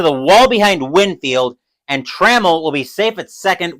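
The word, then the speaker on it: Trammell: is 0 for one I always want to pronounce it TRL but it's actually traml necro will get the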